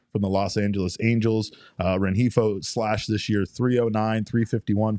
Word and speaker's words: Rengifo: So with the way that Geno has struggled, Rengifo's name came up. And we mispronounced it as Rengifo quite a bit, but Rengifo's name came up for a lot of Diamondbacks fans because